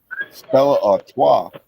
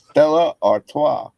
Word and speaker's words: Stella Artois: I learned how to pronounce Stella Artois. So say what? Stella Artois.